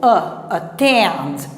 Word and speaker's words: attend: Outra coisa, quando você tem o schwa, quando ele está no início, ele é fraco. E a sílaba forte é a segunda, a que vem logo após ele. Então, ó, attend. Aqui que está o stress.